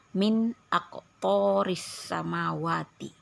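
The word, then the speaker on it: مِنْ أَقْطَارِ السَّمَاوَاتِ: alif izhar artinya jelas jadi kali ini bunyi Nun matinya harus dijelaskan dan tidak boleh dilagu tidak boleh di dengungkan MIN AQ jadi nunnya harus jelas Nun matinya harus jelas dan harus langsungemb bacanya tidak boleh dilagukan jadi kita tidak boleh membaca Min aqto tidak boleh ya harus langsung jelas dan langsung Min aqoris samawati seperti itu ya Nah lanjut kita ke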